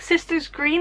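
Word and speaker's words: Søstrene Grene: Sistrene Grene, I think you pronounce it like Sisters Green.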